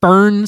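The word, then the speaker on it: Foehn: Uh, so it's a real thing called the fern sickness, which is spelled f o e hn.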